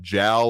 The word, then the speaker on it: Jal: Anyone ever been to Jal or Hal, depending on you pronounce it, out there in the kind of a corner of New Mexico there?